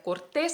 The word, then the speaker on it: cortés: no pero cortés mira cortés es una palabra aguda terminada en ese obligatoriamente lleva lentes sí